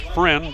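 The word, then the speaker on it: Freund: is human after all pronounced friend but spelled fre und friended and it'll bring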